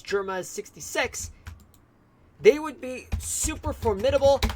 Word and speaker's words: Germa 66: Thus members of the Vinsmoke family as part of Germa6 or I would rather pronounce as Germa 66.